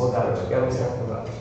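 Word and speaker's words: Włodarczyk: Jarosław Vlodarczyk, you pronounce it. Vlodarczyk.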